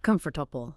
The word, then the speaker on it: comfortable: In this case, the first syllable, C-O-M-F. Right. And because that one syllable steals all the energy, the rest of the word has to be drastically reduced to fit into the remaining breath.